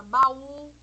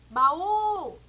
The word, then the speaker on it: baú: urgente que fica sozinho ele tem um acento como é o caso da palavra baú baú ou jaú aqui ó